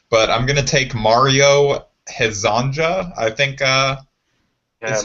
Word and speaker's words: Hezonja: But I'm gonna take Mario Hezonja, I think is how you would pronounce his name.